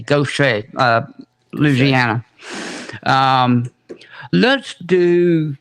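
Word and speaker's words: Gauthier: sent you two and it spelled g-a-u-t-h-i-e-r but it's pronounced g-o-s-h-a go say uh louisiana um let's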